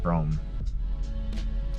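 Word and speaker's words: Brougham: rome it's spelled weird like broham but it's pronounced brome um so i want one of those i've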